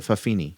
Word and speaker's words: fa'afafine: It's fa'afafine. Fa'afafine. Yeah, they pronounce it Fafini.